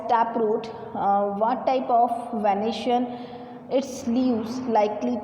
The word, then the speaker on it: venation: अच्छा, यहाँ पर स्पेलिंग मिस्टेक होगी, ये VENATION है, ठीक है। ये क्या है? VENA, ठीक है, वेनेशन।